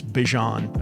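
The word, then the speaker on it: Bijan: We've all been saying his name wrong. It's Bjon, apparently.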